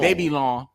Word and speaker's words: Babylon: Why y'all keep pronouncing this wrong? Babylon. It's French.